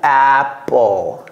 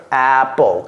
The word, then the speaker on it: Apple: Et c'est comme si le E venait avant le L. Apple. Apple. Comme people. Ce n'est pas people. People. Non. Ce n'est pas apple. Apple.